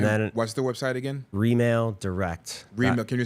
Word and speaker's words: Remail Direct: Remail Direct. Remail. Can you spell that? Remail, like R-E, like real estate.